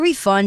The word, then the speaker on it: refund: 饭店外的标示显示没有空房了。接着我们看到一个单字 refund，课文中做动词使用，指退款、退钱。像是 You are required to have a receipt to refund at most stores。